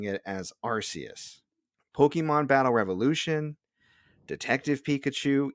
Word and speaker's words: Arceus: the decks and there phonetically it was pronounced archaeous like a key so officially if the newest interpretations and trailers and the old pokedexes are totally believed it's pronounced arceus there you go i'm